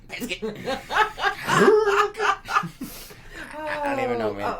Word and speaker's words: Prescott: I still call it Prescott. Because there is no I. Prescott.